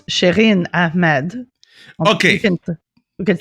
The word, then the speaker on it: Shireen Ahmed: Well, I mean, if you want to say it French, it's Shireen Ahmed.